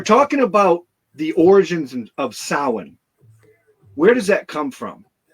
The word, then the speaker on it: Samhain: It's pronounced Samhain because the Irish spelling hasn't been updated recently. It has been several times in the past.